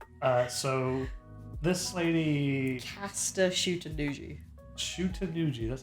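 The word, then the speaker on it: Shuten-dōji: Shutendoji, that's how you say it.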